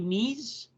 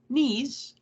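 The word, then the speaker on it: Knies: woles autograph $49 Matthew NES I hope I'm saying his name right spelled like knives without a v k n i s $79 Brian mccab $39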